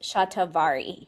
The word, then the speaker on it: shatavari: We pronounce it shatavari here in the West, but that's a queen of adaptogenic herbs to support female and male reproductive organs.